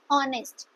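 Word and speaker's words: honest: पर इसको प्रोनाउंस करते हैं ऑनेस्ट। एच साइलेंट रहता है।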